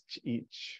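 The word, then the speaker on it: Ch'ich': Just to let you know, none of us pronounced the name right. I think you were pretty close for that. It is Ch’ich for the last part of that.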